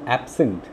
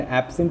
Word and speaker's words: absent: Now you can see under the heading noun, I have written a word absent. There are two syllables in absent. When absent is used as a noun, ab and sent. Okay, see the stress mark just before A. there is a stress mark to it.